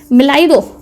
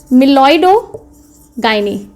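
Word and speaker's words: Meloidogyne: आज जो हम जिस नीमाटोड की बात करने वाले हैं वो है मिलाइडो. ऐसे प्रोनाउंस कर लोगे इसलिए, ऐसा है नहीं मिलॉइडो गाइनी इनकॉग्निटा.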